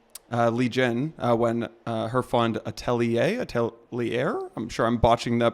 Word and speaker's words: Atelier: linked up with Lee Jin when her fund Atelier, I'm sure I'm botching the pronunciation of that, merged with Variant Fund. Atelier, amazing.